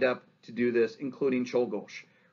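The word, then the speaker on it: Czolgosz: guy leon cholgosh leon cholgosh and yes it's spelt like it sounds right see cholgosh actually this really isn't that hard see those z's pronounce them as h's and you got it right so instead of uh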